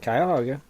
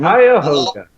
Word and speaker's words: Cuyahoga: And, let's see, the other one, or the last one is Cuyahoga County. Am I pronouncing this right? Cuyahoga. Mm-hmm. Cuyahoga. Cuyahoga, thank you, Shad.